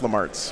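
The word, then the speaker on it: Lemartes: Oh, that's Lamartis. It's pronounced Lamarts, by the way. Like 90% sure.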